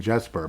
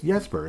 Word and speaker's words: Jesper: He's been saying Jesper, but it's Yesper, isn't it? And I know Marco Rossi and I it's pronounced Rosi.